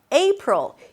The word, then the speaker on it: April: April. The A is pronounced as A as in day. A. It's a diphthong, a changing vowel, so you want to hear it shifting from E to E.